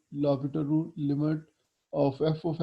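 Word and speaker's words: L'Hôpital: यूज़ होता है, इसको लॉ पीटर रूल कहा जाता है। ये वैसे तो लॉ हॉस्पिटल लिखा हुआ है लेकिन इसकी प्रोनाउंसिएशन जो है लॉ पीटर रूल जो है इसको पढ़ा जाता है।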